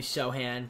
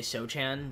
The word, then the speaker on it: Sochan: We got like Keldon Johnson, Trey Jones, Zach Collins, Jeremy Sohan, which I would say Sochan, but I guess the C is silent.